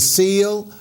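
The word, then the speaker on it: Cile: Again, folks, we're with Mrs. Seal that's spelled C-I-L-E.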